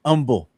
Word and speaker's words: Humble: I live in Humble. In Atascocita. The in H is Humble. silent. The H is silent.